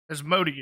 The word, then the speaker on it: Asmodeus: So I had to cut out when, as Becidus or whatever the hell his name is, however the hell you pronounce it. Asmodeus.